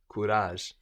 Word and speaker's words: courage: bage bage courage courage this is spelled c o u no so OU gives us kurage kurage the courage uh